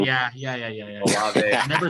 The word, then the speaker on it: Olave: Chris Olave and Garrett Wilson. I said it wrong. Yeah. Olave.